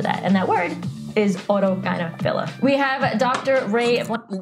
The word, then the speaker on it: autogynephilia: And that word is autogynephilia. We have Dr. Ray. Not even saying it right. Autogynephilia. Autogynephilia. Yep, it's autogynephilia.